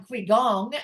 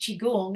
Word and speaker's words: qigong: no right because I'm looking at it going quong and um but it's pronounced chigong and I was saying chiong and you're correcting me and I'll just go